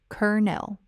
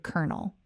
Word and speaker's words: colonel: Colonel is said exactly like the word kernel, as in a kernel of corn or a kernel of truth, kernel. The O in the middle makes an ER sound, and the second syllable is just a soft nell.